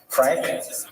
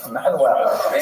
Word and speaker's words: Manuel: But luckily for today, the only Portuguese king we're going to talk about is Manuel, which is pronounced Frank. No, Manuel.